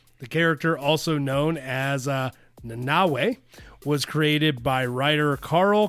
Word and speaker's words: Nanaue: I am Nanaue. Okay. And I literally only have an idea of the pronunciation because of the new Suicide Squad.